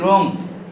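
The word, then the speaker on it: wrong: है ये उसके बाद स्पेलिंग बोलो र रंग डब्लू आर ओ एन जी बेटा ढंग से लिखा कर डब्लू आर ओ एन जी रंग फिर कॉक और कंट्री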